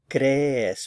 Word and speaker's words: crees: So the stress is on this first syllable, crees. Be sure to get the two E's in separate syllables.